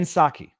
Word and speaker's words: Psaki: I now have properly programmed the proper pronunciation of her name. Jen Psaki.